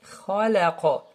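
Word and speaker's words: خَلَقَ: Et le qaf, comme de al-falaq, alors on fait une sorte de vibration et ce qu'on appelle al-qalqala. Khalaqa.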